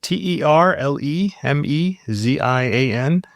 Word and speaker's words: Terlemezian: It's spelled t e r l e m e z i a n and it's perfectly phonetic.